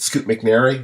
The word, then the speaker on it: Scoot McNairy: We've got, first we got is it Scoot McNairy? Is that how his name is pronounced? Yep.